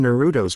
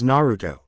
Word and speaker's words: Naruto: It's only 3 syllables. See, it's 3 syllables. More than 2, less than 4, and an odd number at that.